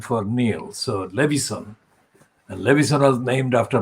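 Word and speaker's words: Leveson: So Levison.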